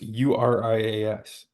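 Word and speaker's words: Urías: It's spelled the same way. No, it's not. It's Urias.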